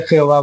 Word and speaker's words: Jehová: En la primera sílaba, el ye, en castellano decimos je, pero sería ye en hebreo, está el prefijo de